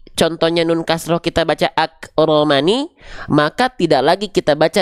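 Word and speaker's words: أكرمن: nah oke jelas nah maka dibacanya bukan lagi akromani enggak dibaca akramani ya enggak dibaca akramani teman-teman ak Kalau berhenti maka jadian paham jelas jelas Insyaallah saya jelaskan pelan-pelan ya Jadi dibacanya Bukan akromani tapi akroman sama ini juga misalnya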